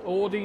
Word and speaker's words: Audi: i would understand if someone said would be aud if someone went aud no it's audi like that's all it is but audi audi where'd you like for you to pronounce the or sound requires there to be at least an o present there isn't even an